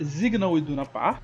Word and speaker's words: Signal Iduna Park: Então, a pronúncia do inglês em alemão, que é o nome em inglês é Signal Iduna Park, e no alemão acaba se traduzindo para Signal Iduna Park. O S tem o som ali de Z. E também tem o nome